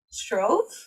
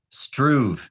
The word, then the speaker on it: Struve: I hear you pronounce it as Struve? Oh, Struve, yeah.